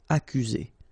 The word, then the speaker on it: accuser: You don't need to pronounce double C here, because normally we only pronounce this K. Accuser.